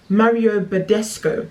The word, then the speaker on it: Mario Badescu: So now I'm using my Mario, I never say his name right, Mario Badescu, that's it, skincare.